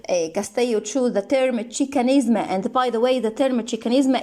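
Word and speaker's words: Xicanisma: the spelling to pay homage chicanism it well pronounced chicanisma to a pay homage to their indigenous roots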